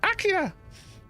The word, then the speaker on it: Akira: you haven't seen um just pronounce it akira even though in the movie it's pronounced akia it's such a good movie